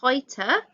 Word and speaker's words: heute: And the title, Früher und heute. Just a pronunciation note, remember EU makes the OI sound.